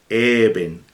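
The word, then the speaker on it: אבן: llama eben ezer fíjense ya saben ustedes cómo se escribe con una letra a letra vez y con una luz soft se lee even que significa piedra que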